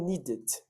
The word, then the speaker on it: needed: Palavras terminadas em D e terminadas em T são as palavras que eu posso pronunciar o E. Só nessas duas. Como assim, teacher? Pessoal, um som que é interrompido, eu não consigo interrompê-lo novamente, né? Então, por exemplo, need. Eu não consigo falar need. Eu tenho que falar needed. Acontece, tá? Então, plant, que é plantar, né? Planted. Essas são as exceções.